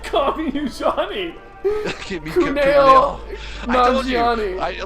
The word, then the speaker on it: Kumail Nanjiani: So Kuman is Plimpton, an ostrich. He Stop! voices an Stop! ostrich. Please stop! Stop trying to say his name. Kuman is not his name. Kumail? Kumail Nanjiani.